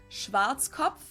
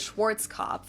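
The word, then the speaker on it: Schwarzkopf: pronounce it schat which literally means blackhe head Schwartz cop English native speakers usually pronounce it Schwarz cop or Schwarz or something along those lines Deutsche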